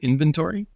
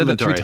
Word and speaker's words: inventory: my pronunciation but that you're saying invent T which makes me think they're inventing the data rather than inventory it's an inventory oh an inventory inv